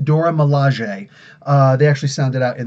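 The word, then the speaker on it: Dora Milaje: door Malaysia in the comics only spend it's pronounced Dora Malaysia they actually sounded out in the comic books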